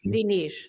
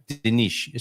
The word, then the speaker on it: Dinis: Dinis, yeah. Dinis. So that's because of the vowel there.